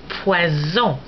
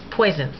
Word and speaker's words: poison: But it's pronounced like a Z when you've got one S between vowels, as in poison, poison.